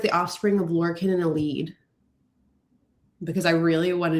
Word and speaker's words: Elide: And also, I'm really proud of you for not saying LD. I know. You used to say. I've been saying it right since, because this one makes sense spelled that way.